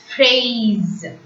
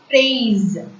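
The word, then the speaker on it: fraise: So, phrase. And hope you remember this rule. If S comes between the vowel sounds, S will be pronounced as is. So, F-R-A-I-S-E is pronounced as phrase.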